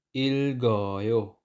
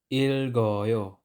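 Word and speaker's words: 읽어요: silang basahing dalawa halimbawa Il goyo Il goyo ang sound ni consonant G ay initial sound at hindi psim sound Il goyo Il goyo next ang word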